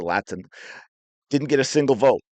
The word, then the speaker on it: Latson: right so lot Laten I always want to say Latson I know she pronounced it Latin didn't get a single